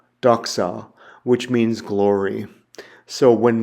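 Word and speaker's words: δόξα: The next word I have there is an xi, and it's pronounced with an XS sound, like fox, fox. And the Greek word I have there is doxa, doxa, which means glory.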